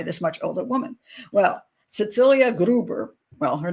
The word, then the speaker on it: Cecilia: Okay, like Cecilia, but Cecilia.